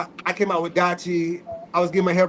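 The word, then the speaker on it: DYCHI: Let me bring back Dachi. Dachi is spelled D-Y-C-H-I.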